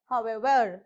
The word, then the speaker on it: however: of this words okay for example you have however however however okay whatever so you have to stress on the ever part right however whatever okay so next